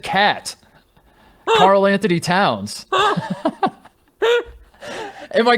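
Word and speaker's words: KAT: he goes i said cat carl anthony towns and my question to you charlotte is this is that are are is cat that ubiquitous did we just call him cat like i understand that's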